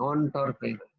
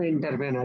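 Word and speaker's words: entrepreneur: অন্টারপ্রেনার, সারা জীবন পড়লাম এন্টারপ্রেনার, আমাদের ইংরেজি টিচারও তাই শিখেছে, এখন শুধু অন্টারপ্রেনার।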